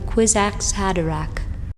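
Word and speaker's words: Kwisatz Haderach: up mispronouncing that but I double checked it this time another to form the quiz ax had Iraq a lady Jessica was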